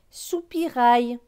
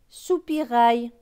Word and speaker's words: soupirail: AIL, c'est aïe. Donc, R et aïe, rail. Donc, ce mot va se lire sous, pi, rail. Soupirail. Un. Soupirail.